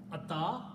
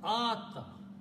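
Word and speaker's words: آتى: And when you have two alifs, they have to be pronounced as ah. This is ata, this is ata.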